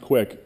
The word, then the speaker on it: Qik: this one called uh it's spelled Qik but it's pronounced quick uh Skype bought these